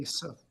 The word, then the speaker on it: Asa: So, uh, Assa Butterfield, is that how you say his name? I don't know. Asa.